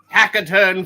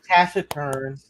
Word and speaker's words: taciturn: It's all you can do, my hackaturn foe. Taciturn. Taciturn, whatever! Yeah, I've heard it with a hard C.